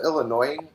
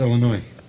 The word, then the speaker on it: Illinois: from Illinois call themselves Illinois it's Illinois it's Illinois thought you guys were Illinois the soun the S that's right the S is silent you do not yeah